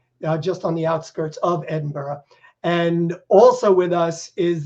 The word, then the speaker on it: Edinburgh: a castle in the beautiful medieval city of Edinburgh Scotland and by the way it is Edinburgh right A lot of people here in the